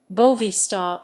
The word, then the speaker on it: Boavista: vista futabal club commonly known as bovista portuguese pronunciation bovista is a portuguese sports club from the city